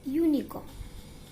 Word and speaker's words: unicorn: Its beginning letter is U and U comes in vowel sound. But in both words, we pronounce both words as uniform and unicorn, not unicorn. And here sound comes in consonant.